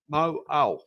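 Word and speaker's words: Mauao: Mo'au.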